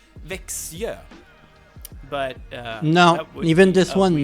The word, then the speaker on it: Växjö: we spell it with S and J, but someone thought it would be cool to replace K and S with an X which is totally fine